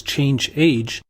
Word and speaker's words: chage: The chage command, which I'll pronounce as change age, allows the administrator to view and modify attributes related to password expiration.